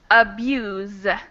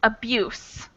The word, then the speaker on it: abuse: or mistreatment yup and the tips over here are the z sound and the s sound so the verb we pronounce the abuse so i abuse yeah i abuse my little brother and then the second one is abuse the abuse was damaging tricky tricky words yeah